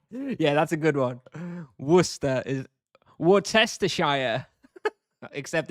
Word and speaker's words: Worcester: Worcester is westerire except it's pronounced Worcester.